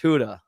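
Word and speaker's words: Gouda: Huda good call Jason SM a good smoked Huda not with but a smoked Huda what do you mean Huda is't that a g in there it is but it's pronounced Huda according to whom according to the Fine people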